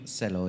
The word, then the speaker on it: Celo: So, actually, Markus, I have a question for you regarding Celo. Am I pronouncing it correctly? Celo, yes.